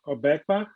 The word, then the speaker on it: Obekpa: Obekpa. Obekpa? Obekpa? Yeah, Obekpa. Yeah. Just pronounce as written.